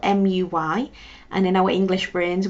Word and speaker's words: muy: to pronounce it as mui and that's just the way we know the letter U is pronounced like a u sound whereas in Spanish it's slightly different so it's not mui